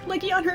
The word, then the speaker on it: Legiana: Legiana, that's how you say it. Leiana is legitimately the way you say it.